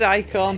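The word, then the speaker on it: Eikon: the strength to conjure their icon he pronounced it icon adct Harmon he did not command to have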